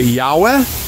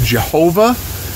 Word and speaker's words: Yahweh: There's actually no vowels in it, and it's unclear of the actual pronunciation. Some people say Yahweh. In years past, they said Jehovah.